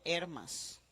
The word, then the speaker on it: Hermas: Y con acento en la E, Didaché, Didaché. Y el Pastor de Hermas, Hermas.